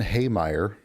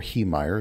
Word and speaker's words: Heemeyer: Marvin Haymeyer, or Heemeyer, it depends on how you want to pronounce it, was a man born in 1951 on a dairy farm in South Dakota.